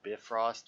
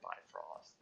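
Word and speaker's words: Bifröst: you can see that the bifrost or the bit frost which i've never heard it said before i've never heard it pronounced that way ever i've always heard it by frost and like other movies other people talking about it i've never once heard it pronounced bit frost like that just sounds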